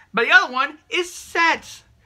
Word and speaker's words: Set: But the other one is Set. Or they call him Seth because that's how it's spelled. But Set, yes, the Egyptian god who,